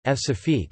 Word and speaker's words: Françafrique: Françafrique, French pronunciation, F-Safique, is France's relationship with its former African colonies.